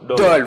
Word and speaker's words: Dole: C'est Dole ou Dolé, comment on le prononce? Dole, voilà, Dole, où elle va y rencontrer son grand-père et sa grand-mère.